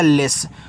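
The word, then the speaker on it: less: ले यहां double S है तो उच्चारण केवल एक ही बार होगा।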